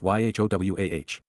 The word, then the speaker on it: Yahowah: They are all actually written Shalom, Torah, and Eloah, Elohim in the plural, conclusively demonstrating that YHWH is pronounced YHOWAH.